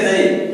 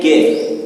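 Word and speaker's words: ज्ञ: हम उच्चारण में इसको कहते हैं गे, लेकिन ये उच्चारण शुद्ध उच्चारण क्या होता है इसका? जे।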